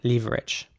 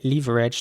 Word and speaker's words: leverage: saying it though so the british english way would in my opinion be to say leverage to pronounce the e at the beginning more like an e again not like an e or ä the american way would be leverage here's an example for